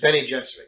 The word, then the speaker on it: Bene Gesserit: Bene Gesserit, you pronounce it? Bene Gesserit, yeah.